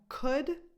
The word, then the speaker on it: could: here then we have could that's pronounced just like cook but with a d at the end instead of a C